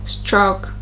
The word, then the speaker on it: stroke: And here, a diphthong is when there's 2 sounds. Here, 2 sounds within a syllable. There's a small O sound. Oh, there's a small O sound when you say stroke, stroke. So instead of stroke, stroke, stroke, stroke, stroke, it's a bit more prolonged.